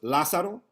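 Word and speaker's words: Lázaro: and that was the teachers that couldn't pronounce la saro that would call me lizard lazardo lorenzo any version of an l name you can think of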